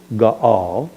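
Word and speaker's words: Gaal: Here it's not Gail, it's Gal.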